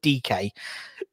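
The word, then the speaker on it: Dike: American guy, Daryl Dyke, or Darren DK, I believe he pronounced his name, Daryl DK.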